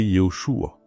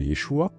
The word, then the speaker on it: Yeshua: Et d'autres font prononcer Yoshua. Est-ce que nous en tant que personne qui prononce le nom de Yeshua, doit-on condamner des frères qui prononcenthua ou Yahoucha ou autre ? Non, la réponse est non. et on doit pas l'imposer non plus, tout simplement parce que la définition reste la même et la prononciation, la phonétique change en fonction des pays tout simplement.